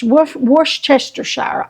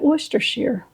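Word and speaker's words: Worcestershire: how you pronounce it I always called it werer sauce I don't know if that's right or wrong but I know people have a hard time saying it and I just always called it Wester share worshire I guess it depends on how if you're going to pronounce every letter or some of them are going to be silent I don't know all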